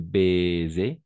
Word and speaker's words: baiser: À chaque fois que le S se trouve entre deux voyelles, on va prononcer comme un Z. Rose, d'accord? Une rose, una rosa. Un baiser, de la même façon, baiser, baiser, baiser, baiser.